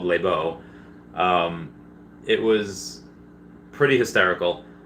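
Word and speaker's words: Lesbo: a a bar called labo and it's spelled l-e-s-b-o it's called labeau um it was pretty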